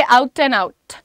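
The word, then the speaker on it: out and out: में ना लगा करके सामने वाले ऊपर वाले दांत के जस्ट पीछे रखिए और कहिए आउट एंड आउट। जेंटल करो, सॉफ्ट टी का प्रोनाउंसिएशन दो।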